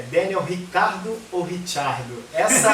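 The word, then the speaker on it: Ricciardo: O nome do Daniel Ricardo pronunciado por ele e pelos australianos é Daniel Ricardo. Tem uns vídeos da Red Bull em que ele pronuncia o próprio nome e você vê ele falando o próprio nome Daniel Ricardo, mas ele aceita que chamem de Daniel Richardo, Daniel Richardo, que seria a pronúncia italiana, que é a pronúncia certa da origem da família dele.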